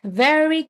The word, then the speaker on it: very: So, next very clean very clean pronunciation for this word v. It vibrates here.